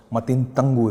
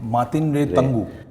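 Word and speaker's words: Matin Rey Tangu: So, how was the experience of working with an actress like Juju and, of course, Matin Tangu, if I'm pronouncing it right? No, Matin Ray. Matin Ray Tangu.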